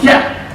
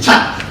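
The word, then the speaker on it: kyat: But don't forget, when you are in Myanmar, the word K is pronounced C. So it's not Kya, it's Chat.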